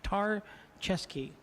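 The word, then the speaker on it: Tarchesky: pronunciation for Ken tarte tar chesky okay tar like the La Brea Tar Pits I get that chest like a game of chess and key like a key so tomorrow I'll still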